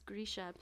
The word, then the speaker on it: Grisha: that was cool that it's like oh it's grisha yeah which is how i can see it